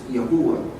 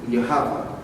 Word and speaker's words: Yahuwah: you say it is Yahuwah. That's how you're really supposed to say it is Yahuwah. That's the correct way to say it. Or if you want to go deeper, is Yahweh.